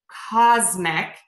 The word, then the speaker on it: cosmic: on ourselves here and we are going to say a z for the letter s before a voiced sound in words like wisdom cosmic and spasm so again wisdom cosmic and